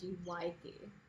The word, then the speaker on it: Magyk: But the first book is called Magic, and it's spelled with a Y, like Magyk.